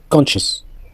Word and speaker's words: conscious: La lettre C silencieux conscious conscious conscious crescent decent descent discipline disciple tous ces motsl on ignore la lettre vous pouvez voir que